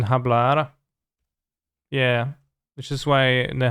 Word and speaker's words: hablar: that's the deck then i don't pronounce the h in hablar yeah which is why